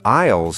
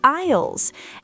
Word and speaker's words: aisles: Don't forget the aisles in the supermarket. Remember the S is silent, right? The aisles.